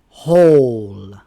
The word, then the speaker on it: whole: When the W is silent, the H is pronounced. Who, whom, whose, whole.